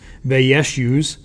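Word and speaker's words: Vaishyas: use okay the wears has merchants that's actually pronounced they yes use then there's the peasants and serfs which were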